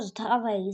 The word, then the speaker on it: здравей: Нагадую з д ра здра в ось як пишеться привіт балкарською мовою тактак а читається воно здравей. Записали, записали і запам'ятали.